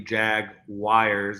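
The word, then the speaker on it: Jaguars: from talking about the Jag wires as Brett likes to call them it's not that I like to call them that's how it's pronounced in Pennsylvania and we are going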